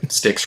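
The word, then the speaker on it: Styx: sticks come sail away those guys are sticks rhymes with dicks money and um you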